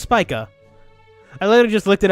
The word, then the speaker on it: Spica: up yo hang on spica so it's pronounced spica I literally just looked it up in for